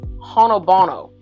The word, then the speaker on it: Honobono: It's Honobono.